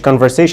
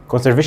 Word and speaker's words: conservation: انطق دي كده، بص مش conversation، بص conservation وهي ايه؟